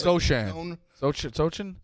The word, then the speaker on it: Sochan: It's Sochan. Sochin?